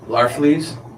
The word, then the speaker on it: Larfleeze: Agent Orange, how do you pronounce his name? Larfleeze.